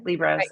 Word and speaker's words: Liebross: your last name right libros Ross libros you know whatever you want to say Li Ros I always like to say it rhymes with gross oh that's a good